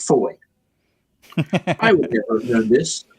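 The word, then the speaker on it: Fowey: It's pronounced foy. I would never know this. I'm like river fouie.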